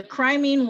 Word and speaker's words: Crimean: The Crimean War, that's how you pronounce it, the Crimean War Crimean